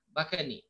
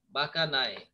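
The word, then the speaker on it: bakanae: আমরা অনেক লম্বা দেখলে তাকে বোকা বলি না, এরকম বাকা, বাকানি, ফুলিশ। আর নায়ে, জাপানি শব্দ NAE দিয়ে নায়ে বোঝায়, কিন্তু ইংলিশে আমরা উচ্চারণ করি নি। সো নায়ে মানে হচ্ছে সিডলিং বা চারা, বাকা নায়ে, অর্থাৎ আমরা সিম্পলি বলি বাকানি অফ ডিজিজ অফ রাইস।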